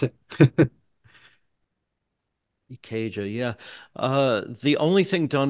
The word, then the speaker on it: Ikeja: And so the first basic tracks were done at ARC Studios in Ikeja. Is that how you pronounce it? Ikeja, yeah.